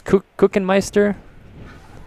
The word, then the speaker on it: Kuchenmeister: I know I said that name wrong before. It's Kuchenmeister.